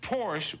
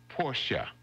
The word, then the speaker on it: Porsche: really just Hyundai day also a lot of people say Porsche but it's really two syllables Porsche Porsche there is no so